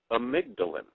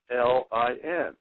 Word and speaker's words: amygdalin: And it was this stuff called Laetril, and it's actually amygdalin. Is the word, and since we're on radio, I'll spell it. It's AMYGDALIN, amygdalin.